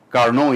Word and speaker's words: Carnot: You can see Nicolas Leonard Sadi Carnot. Carnot is the right pronunciation.